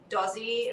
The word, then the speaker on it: DOZZI: of us will call dozy as our nickname and we're like why are we not using our entire last name as our band name and then dozy it rhymes with aussie oi so yeah